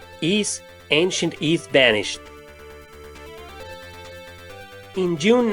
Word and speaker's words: Ys: The name also created a controversy with people believing the pronunciation was Wise due to an error on the packaging of the English release. It's pronounced Ys, and it was probably